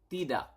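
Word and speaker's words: tidak: also yes is y and then no is T do T do T do okay so we have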